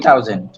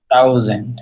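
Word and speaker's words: tausend: হ্যাঁ, ট, ট, এটাই আমরা জানি যে ট এর মতো উচ্চারণ করে।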